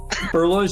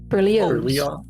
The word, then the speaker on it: Berlioz: Saying his name wrong. Berlioz. Berlioz. Remind me Why is it a long O?